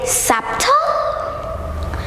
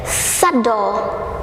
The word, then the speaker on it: subtle: beast a silent letter so we don't pronounce it we cut it out for example most recipes